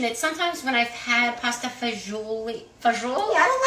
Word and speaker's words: fagioli: that you mention it, sometimes when I've had pasta fagioli, Yeah, I don't like fazool. Do you guys like fazool? I say fazool, but I'm not Italian.